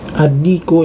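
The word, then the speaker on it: الديك: Adiku ya, ini sama ya, dia ada tasydidnya, maka kita langsung membacanya dengan adiku, langsung masuk ke huruf dal ya.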